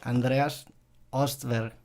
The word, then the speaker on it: Andreas Östberg: pronunciando bien tu nombre Andreas ostberg es la pronunciación que uso yo aquí porque es como fonético en suco sería Andreas bueno para empezar este